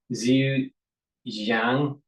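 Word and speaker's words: Zhejiang: orthopedics and has an affiliation with, pardon my pronunciation of Chinese here, Zu Xang University. Zu Zu Jang University, right?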